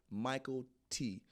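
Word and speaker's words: Mykelti: mckelty Mike it looks like Makai but it's Michael T um that's how you pronounce that is yeah Michael T never knew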